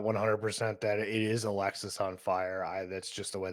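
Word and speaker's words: Alexisonfire: I just I guess I was never like a huge fan of Alexis on Fire. Maybe it's because I was the idiot and I always pronounced it as Alex's on fire because that just made more sense in my brain.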